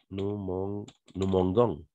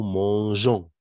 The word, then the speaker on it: mangeons: Sinon, on disait nous mangons, n'est-ce pas? Nous mangons. Mais donc, on ajoute le E, tout simplement pour prononcer G. Ah, nous mangeons, n'est-ce pas?